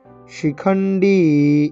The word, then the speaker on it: শিখণ্ডী: কাশ্যশ্চ পরমেশ্বাসঃ শিখণ্ডী, এই ডিতে টান, ইকারে টান দীর্ঘ, শিখণ্ডী সেটা কিনা তালিব্য